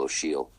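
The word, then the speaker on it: Ó Siadhail: me hollow shield michael it's michael o'sheel and o'sheal is spelled o-s-i-a-d-h you'll have a-i-l of course yeah for those listening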